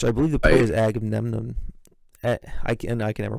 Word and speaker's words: Agamemnon: believe the play is Agamemnon. I can never pronounce it. Agamemnon, I believe it's pronounced.